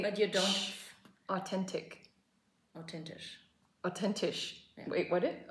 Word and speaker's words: authentisch: We don't have the TH. It's written the same, authentisch. Oh, but you don't say... But you don't... Authentic. Authentisch.